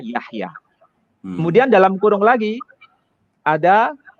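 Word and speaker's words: יחיא: Artinya anak laki-laki namanya Yahya Yod Chet Yod Alef, itu dibaca Yahya.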